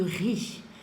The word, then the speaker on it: riz: Très bien, on lit du riz. Le Z qui est à la fin, c'est une lettre à la fin, donc on ne la prononce pas.